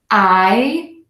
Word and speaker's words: Iowa: Okay, this one always throws people. 3 beats for so few letters, right? 4 letters and lots of beats in this word. 3 syllables or 3 beats. Iowa.